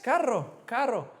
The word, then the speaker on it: carro: Yeah, and a car revs. So carro. Carro. 2 R's. Carro. Because if it's not revving so much, if you're trying to turn it on and it's not revving, it's probably going to be expensive, right? So caro without the rev is expensive.